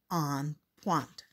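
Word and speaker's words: en pointe: one day we will that is called on point you say it like this on font today my dad picks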